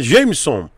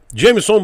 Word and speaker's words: Jamerson: que Chico Obrigado Valeu desculpa pronunciei errado o seu nome é Jamerson Jamerson Beijo e obrigado pela